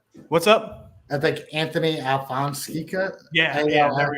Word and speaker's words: Alfonseca: I think Anthony Alfonseca. Yeah, A-L-F- yeah, there we go. Alfonseca? Alfonseca.